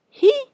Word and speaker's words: he: Le E se prononce I, comme on l'a appris dans l'alphabet.